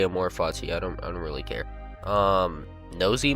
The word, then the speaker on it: Amor Fati: Here, how to pronounce Amor Fati? So I was right, Amor Fati. Well, Amor. Like Amor, I'm just gonna say Amor Fati.